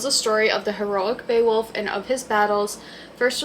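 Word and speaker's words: Beowulf: And then I also got be boowolf beaywolf averse translation. I think it's pronounced Beaywolf cuz I feel like I've heard of this before, but it says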